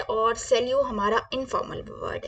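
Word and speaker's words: salut: सिर्फ हाय बोलना है तो हम क्या बोलेंगे सेलू क्या बोलेंगे सेल यू क्या बोलेंगे हम सेल यू प्लीज रिपीट करें आप मेरे साथ सेल यू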